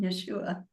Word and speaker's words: Yeshua: and I was speaking to Yeshua and that is how he told me to pronounce his name. So I call him Yeshua and I said I don't understand.